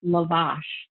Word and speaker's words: lavash: to know it's called lavash oh lavash we put the emphasis on the wrong it's very fancy i